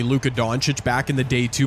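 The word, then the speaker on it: Luka Dončić: I remember it took me a while to figure out how to say Luca Donuch back in the day two, but that's cuz people were pronouncing it differently.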